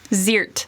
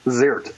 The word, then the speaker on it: Zierdt: How do you pronounce Verna's last name? Ziirdt. Ziirdt.